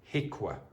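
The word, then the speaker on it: HIQA: H the pronunciation of this is hika.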